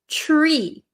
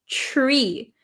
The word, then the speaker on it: tree: So the pronunciation the first one you have is tree. Tree. So do you hear the ch? It almost sounds like a ch like chair.